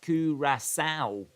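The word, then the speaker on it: Curaçao: Curacao is pronounced Curacao. Curacao. Like the female pig.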